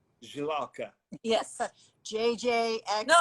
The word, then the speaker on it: Žilavka: We grow it in the southern part of country, and it's called Žilavka. Žilavka. Yes. JJXL. No, it's It's No, no. Can't pronounce it.